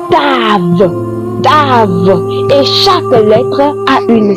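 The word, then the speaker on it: ת: Lorsque nous prenons la 6e lettre, elle se dit tave.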